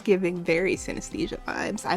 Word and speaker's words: synesthesia: Since I was born, I've had a condition doctors call synesthesia. I cannot pronounce it.